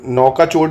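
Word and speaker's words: Nouakchott: है और वेस्टर्न सहारा की लाउन मोरतानिया की नौका चोट नौकाचोट बड़ा करके दिखा दे रहा हूं एन ओ यू ए के सी एच O double T नोकाचोट।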